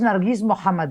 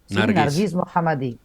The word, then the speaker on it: Narges Mohammadi: voz del pueblo iraní Cuál es la pronunciación correcta del nombre y del apellido Yo creo que es nargis mohamad Sí nargis mohamad nargis mohamad bueno Leo